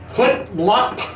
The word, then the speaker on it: CEPMLP: Now, that's a little bit long-winded, so we use an acronym, CEPMLP. As any good Klingon would know, that's pronounced clip-lop.